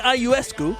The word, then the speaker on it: Ionescu: Whether you want to select Sabrina Ionescu, that's how you say it, right?